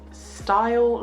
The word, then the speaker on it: STYL: It's STYL London, but spelled like steel.